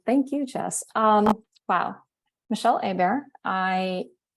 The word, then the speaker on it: Hébert: So I can't wait to also introduce now Michelle Hébert, a bear in the forest. Did I say it right? Hébert.